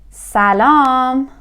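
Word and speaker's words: سلام: We will say salam.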